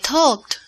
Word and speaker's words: talked: You would say I talked. I talked. Perfecto. I talked. No I talked, pero I talked. La terminación suena como T. Talked.